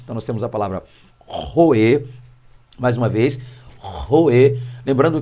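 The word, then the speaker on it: רֹאֶה: Então nós temos a palavra roê, mais uma vez, roê, lembrando que a expressão ou a pronúncia hebraica para isso aqui é uma pronúncia gutural, ou seja, parte daqui, desse som.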